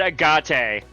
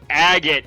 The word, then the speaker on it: Agate: I said Agate. That's how it's pronounced in Japanese as well. Good lord, AGOT just sounds blleh.